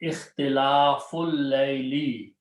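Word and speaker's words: اختلاف الليل: Okay, and when you read them together, it is read ikhtilaful layli. You don't pronounce the alif in between. It becomes hamzatul wasl. Fa will combine with the lam.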